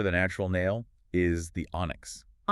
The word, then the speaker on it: onyx: The technical name for the natural nail is the onyx. Onyx, like the stone. Exactly like the stone. It's spelled o n yx and it's pronounced ahn axes.